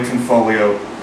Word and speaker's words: Tanfoglio: We're not going to be talking about Fratelli Tanfoglio or why the G is silent or any of that.